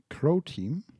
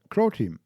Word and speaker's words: Croteam: out of that game I mean Crow team a creati independent not sorry rhymes with pro team damn thanks and yeah